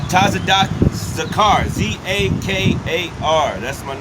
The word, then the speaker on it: Zakar: a car not enough the car not tazada zakar z-a-k-a-r that's my name in the spirit I've